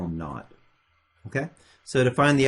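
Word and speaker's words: naught: that I called that not that's how we pronounce that so that zero which stands for initial velocity we call them not okay so to find the average velocity I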